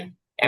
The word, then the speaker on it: wipe: wipe. American এবং British দুই উচ্চারণই ওয়াইপ।